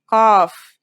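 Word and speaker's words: قاف: dips beneath the line think about the word call and notice how it comes from deep in the throat it's a stronger version of the letter k said with the throat constricted like in sod and bod now let's handwrite the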